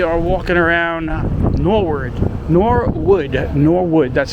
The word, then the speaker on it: Norwood: As we are walking around Norwood, Norwood, Norwood, that's how you say it.